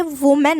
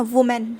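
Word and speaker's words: women: अगर यहाँ ई के जगह ए होता तो ये वुमेन होता, वुमेन पढ़ते। वो जो इंस्टाग्राम रील पे चल रहा है ना, वुमेन, हा, ये वो वाला प्रोनाउंसिएशन हो जाता, वुमेन।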